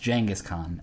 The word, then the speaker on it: Genghis Khan: I said Genghis Khan, and he said, listen, I'm not trying to be a jerk, but as far as I know, it's actually pronounced Genghis Khan.